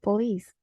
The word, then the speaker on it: police: So we have the word police. We have the syllable po, which is the weak syllable, and lis, which is the strong syllable.